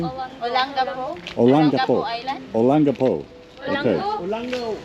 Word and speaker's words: Olango: Olango. Olango. So that's how we should pronounce it.